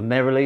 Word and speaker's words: neroli: as soon as i i read neroli or narrowly as it's pronounced but i will always be calling it their only you know you